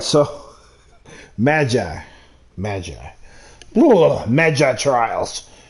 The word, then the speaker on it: Magi: God all right so Magi imagine trials I was saying Maggie and I didn't think that sound right what the man and now do I have the correct pronunciation I can continue all